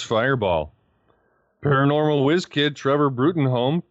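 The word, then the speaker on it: Bruttenholm: paranormal whiz kid Trevor Bruen Holm pronounced broom dubs him Hellboy 50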